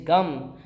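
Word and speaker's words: गं: So instead of saying Ga, Ma, say Gam.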